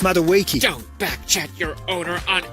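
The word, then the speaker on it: Madueke: It's pronounced Maduiki.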